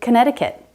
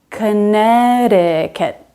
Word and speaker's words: Connecticut: It's silent in the state name Connecticut. This middle C is silent. We don't say it at all. Connecticut.